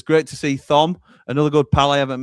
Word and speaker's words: Thom: Batman Lou says, great to see Thom, another good pal I haven't met yet. I pronounce it the same way Jim does. It's like Thor, but Thom.